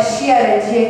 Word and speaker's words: Chiaradia: Chiaradia se escreve com CH, né? Italiano, CH, se pronuncia com som de K. Então é Chiaradia que se escreve.